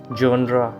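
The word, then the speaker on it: genre: है fiance fiance मैचो मैचो resume resume resume जनरा जनरा जनरा यानी किसी चीज का टाइप जैसे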